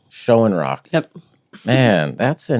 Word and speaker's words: Shoenrock: Shoenrock. Schoenrock.